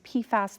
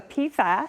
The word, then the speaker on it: PFAS: So PFAS stands for poly and perfluoroalkyl substances. We tend to have a long A so we can differentiate it from one of the analytes, PFOS, that we talk about quite often.